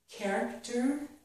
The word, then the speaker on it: character: CH makes k in the word character, and also in the word ache.